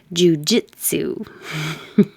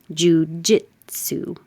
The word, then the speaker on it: jiu-jitsu: Jiu-jitsu. So the important part is to have enough air pressure, j, and voicing, j, ju, jit, su.